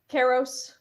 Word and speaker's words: Kyros: Next week, check out Nightfall Under Kyros. Because is it Kyros or Karos? What am I saying? Karos. I just made it up.